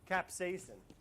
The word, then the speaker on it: capsaicin: peppers that's hot how do you say that capsaicin thanks claire oh my god perfect half sour